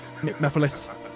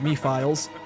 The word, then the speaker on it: Mephiles: I mean, Mephiles. Even though his name looks like it's pronounced Me-Files.